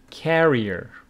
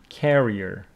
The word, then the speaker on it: carrier: And this one is carrier. This one is carrier. So carrier is someone who carries with the stress on the first syllable.